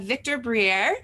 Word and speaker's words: Victor Briere: And today's guest, we have Victor Briere.